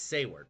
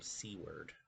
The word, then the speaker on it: Seward: His name is Seward, but oftentimes people mispronounce it and call him Seaw Word.